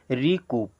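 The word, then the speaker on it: recoup: यू सी ओ यू पी इसे क्या पढ़ेंगे रिकूप क्या पढ़ेंगे रिकूप बच्चों इसको एक बार फिर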